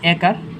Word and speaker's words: এক: একের উচ্চারণ কিভাবে, এ জফলা আকার ক হসন্ত, এ জফলা আকার ক হসন্ত।